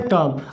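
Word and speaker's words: calm: है वो जाता है काम अब इसे काल में नहीं पढ़ेंगे इसमें जो एल है वो साइलेंट है जैसे गाना सुनेंगे काम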